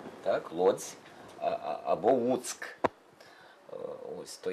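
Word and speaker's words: Łuck: І в них є оце тверде «Л», так, яке вони не вимовляють майже «У». «У», вони кажуть.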